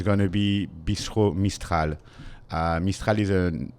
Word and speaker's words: Mistral: Mistral.